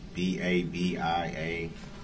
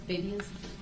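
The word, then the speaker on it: Babiasz: B-A-B-I-A-S-Z. It's Babias. What's your last name? Babias.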